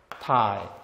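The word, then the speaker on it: ไทย: 주는 것이 태국 순이구 태국이란 말은요 발음은 타 사람은 콘 근데 우리는 태국 사람이라고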